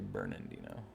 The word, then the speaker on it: Bernardino: Because a lot of people think it's Bernard because of how it's spelled. It's like you're not supposed to say Bernard. It's actually Bernardino. Or Bernardino. Usually Bernardino or Bernardino, even though there's no N there.